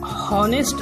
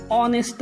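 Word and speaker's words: honest: पण मुळात या शब्दाचा उच्चार हा हॉनेस्ट असा नाही, ऑनेस्ट आहे.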